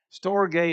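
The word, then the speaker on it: storge: you're putting in English storay is s t o r g the e is a long a sound anyway that's that's a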